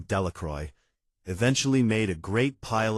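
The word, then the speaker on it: Delacroix: Bobby and Harry Jones and Dicky Delroy, the villagers pronounced this name Delroy, eventually made a great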